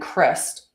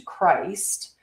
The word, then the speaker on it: Christ: So but the true name is Christ with a K, and Christ is how you would pronounce it with a soft I, like Christmas or Christopher. And this is the original pre-inversion sound tone before it was distorted into Christ and layered with the religious dogma.